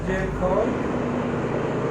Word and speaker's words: gel coat: En este caso traemos, se pronuncia en inglés gel coat.